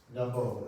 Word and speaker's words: Namo: So now we will Namo, it's 2 syllables. Namo, like that.